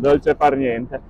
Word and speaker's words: dolce far niente: It's because you have dolce far niente, right? Did I say it right? it's right, dolce far niente.